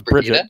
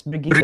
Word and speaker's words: Brigitte: I thought it was Bridget. Yeah. No, it's Brigitte, because she's Brigitte.